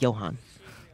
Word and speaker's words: Johan: Uh yeah, those uh a lot of German people use the J as a Y. So, uh I do know that. Johan.